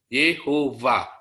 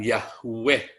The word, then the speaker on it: Yehovah: W tetapi Anda taruh bibirnya di bawah gigi va. Yehovah. Itu yang benar cara membacanya. Bukan Yahweh. bukan Yahweh.